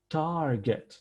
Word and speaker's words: target: referred and referring however target target the stress is on the first syllable therefore we do not